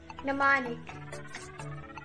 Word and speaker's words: mnemonic: with a silent m except for the word mnemonic mnemonic silent and and if the occult it